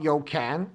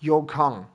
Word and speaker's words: Yokan: Okay, this is called Yokang, not Yokan. I've been calling it Yokan, but that's not correct. It's actually pronounced Yokang.